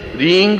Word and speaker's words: ह्रीं: उस ऐं ह्रीं क्लीं, देखिए अब आपकी इसकी उच्चारण ध्वनि, एंग, रींग, क्लींग। मैं ग की ध्वनि के साथ उसकी बात बता रहा हूं।